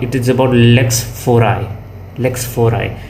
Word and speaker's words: lex fori: Lex fori इसका actual pronunciation यही है, lex fori.